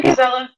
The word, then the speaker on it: Gizella: uh uh I yeah gizella g gizella like more more emphasis on the G a soft G soft G almost almost like a French